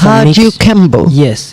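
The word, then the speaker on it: Kajukenbo: It's a mix- Kajukembo. Yes. It's Did I pronounce it right now?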